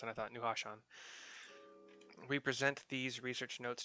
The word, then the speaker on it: Nuhashan: Nuhashan. Actually, it's easier to pronounce than I thought. Nuhashan.